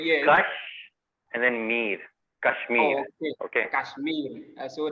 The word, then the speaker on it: Kashmir: Kashmir. Oh, okay. Okay. Kashmir. So the R, the Kashmir. R pronounce.